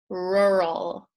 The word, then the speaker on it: rural: this means countryside and for us who struggle with this pronunciation just practice write a note and then the L sound with the the tongue is at the end so rural rural rural rural okay I think